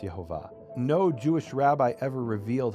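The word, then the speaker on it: Yehovah: And he says, "Well, if you pronounce the vowels the way that that it's written, it would be Yhovah, but the Jews say those are the vowels of Adonai."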